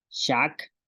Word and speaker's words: xaak: Y con la X tenemos shoch, que es búho. Shak, canasta. Shun, esposa.